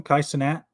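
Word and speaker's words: Cenat: that his name now you pronounce his last name kaisanat okay so yeah that's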